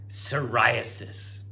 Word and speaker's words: psoriasis: Silent P. Psoriasis.